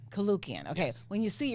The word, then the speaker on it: Koulloukian: I am excited to be interviewing Shahe, and you have to pronounce your last name for me. Koulloukian. Koulloukian.